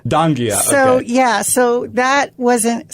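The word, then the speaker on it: Donghia: n g h i a i dang that's Danga Danga so yeah so that wasn't so I I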